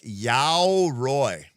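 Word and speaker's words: 鎧: to this AI interviews it is more like ya roy it is a Japanese word for armor and the pronunciation is similar to saying yo as in yawn and roy as in royalty.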